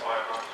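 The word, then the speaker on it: Ahioma: I know it says Ahiyama, but apparently it's pronounced Ayama.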